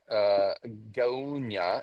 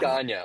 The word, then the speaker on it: Gaunya: My name's pronounced Gaunya, so it's Gaunya. Ganya.